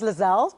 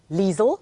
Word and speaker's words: Liezel: and it is actually Liesel rhymes with diesel oh is it Liesel yes but my parents